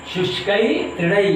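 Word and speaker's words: शुष्कैः तृणैः: शुष्कई तृणई ये इसका उच्चारण है।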